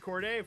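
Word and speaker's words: Corde: And Corday, finally, where can people find you?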